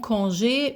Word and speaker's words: congé: Again the accent over the e tells you that it's a a sound. Congé.